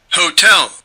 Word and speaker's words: hotel: Le mot hôtel qui en français n'est pas accentué. Hôtel les deux syllabes sont accentuées ont la même intensité alors qu'en anglais il y en a une des deux qui est accentué. Hotel l'accent américain. Hotel hotel hotel. La deuxième est accentuée.